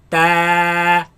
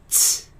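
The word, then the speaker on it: ت: Keep the sound of this letter solid. Do not spit it out. 2 mistakes that people make in regards to pronouncing this letter. It is that first they pronounce it from other than its home, its makhraj. They place the tongue behind the bottom teeth, right, and produce a sharp sound such as ts, ts, ts, ta.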